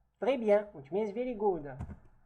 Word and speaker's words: très bien: Again, the S here is not pronounced simply because it's not followed by a vowel.